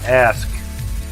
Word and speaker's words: ask: We say ask. There's a K in ask.